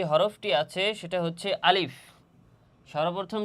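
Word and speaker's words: ألف: আলিফ আলিফ আলিফ আলিফ অনেক সময় সময় দেখা যায় যে অনেকে এই আলিফ শব্দটা এভাবে উচ্চারণ করে আলিফ হরফটি এভাবে উচ্চারণ করে যে বলে যে আলিফ না এখানে আলিফ হরফটি দ্রুত উচ্চারণ করতে হবে আলিফ আলিফ তথা মুখ দিয়ে একটু বাতাস বের হবে আলিফ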